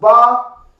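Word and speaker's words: ב: It's pronounced Ba, and this is the ancient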